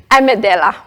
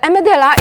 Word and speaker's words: amygdala: Now, I pronounce it as amygdala.